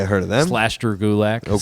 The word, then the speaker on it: Gulak: I learned I learned rhymes with attack. It does. Gulak.